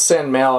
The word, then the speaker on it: Sanmao: I'm trying to pronounce San Mau. I'm not doing the Cantonese pronunciation anymore. I'm trying to pronounce it the Mandarin way.